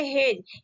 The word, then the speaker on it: hedge: यहाँ पे क्या पढ़ेंगे, हेज, ऐसा नहीं कि हेडेज पढ़ेंगे। यहाँ पे लिखा गया HEDGE, ठीक है। जी से पहले आपका डी आया है तो हम डी को क्या करेंगे, प्रोनाउंसिएशन नहीं करेंगे, इसको हम नहीं पढ़ते हैं। और डी हमारा क्या होता है, साइलेंट होता है, इसीलिए हम क्या उसको बोलेंगे, हेज बोलेंगे। उसके बाद देखते हैं फोर्थ